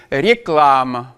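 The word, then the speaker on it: реклама: Réclame, réclame, réclame, réclame. Donc voilà, on va avoir un a très clair quand il va être sous l'accent et on va avoir une atténuation de ce a.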